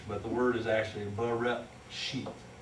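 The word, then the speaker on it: בראשית: I know that doesn't make sense in English, but the word is actually Bereshit. It's a glottal stop, and we just don't do that in English.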